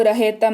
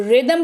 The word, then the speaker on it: rhythm: अगला है RHYTHM, इसको रहेतम नहीं, इसको रिदम पढ़ते हैं, क्योंकि again the rule is same, H के पहले R लगा हुआ है।